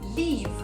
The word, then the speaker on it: leave: L-E-A-V-E se prononce I avec un I long, tandis que L-I-V-E se prononce avec un I court qui est proche pour nous francophones du son E accent aigu.